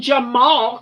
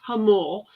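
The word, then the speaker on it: Jamul: Well, yeah, apparently Now- something happened in Jamal, California, which is really pronounced Hamul, but just a few miles from me.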